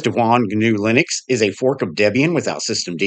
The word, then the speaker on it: Devuan: taking a look at dejuan linux hopefully i didn't butcher the name it's d-e-v-u-a-n so i'm going to call it devon it is a fork